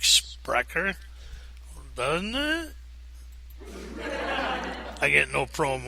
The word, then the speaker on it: Spreaker: to this sprecher com I think that's pronounced sprecher SPR e EI k sounds like sprecher bun I get no